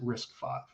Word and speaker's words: RISC-V: we have the term risk five so even though it's a v like you pronounce it risk five um and then in